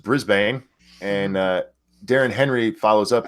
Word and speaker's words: Brisbane: drive you huh real quick Greg says you mispronounced Brisbane and Darren Henry follows up with Brisbane as